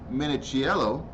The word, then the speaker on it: Minichiello: Now, for a closer look at two women bobsledding, let's go to Vancouver, Canada, where British bobsledder Gillian Cook and Nicola Minichiello.